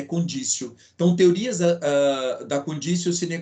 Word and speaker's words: conditio: conditio sine qua non eu escrevo conditio mas a pronúncia é condicio não ter lisa da